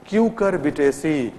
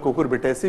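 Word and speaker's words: Cucurbitaceae: Family का नाम क्या है, क्यूकरबिटेसी, है ना, इसको हम लोग कुकुरबिटेसी भी कहते हैं, वी can pronounce it in different way, तो इसका नाम हो गया क्यूकरबिटेसी।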